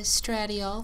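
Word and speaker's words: estradiol: eight milligrams of estrogen stratiol i believe it's pronounced and 200 milligrams of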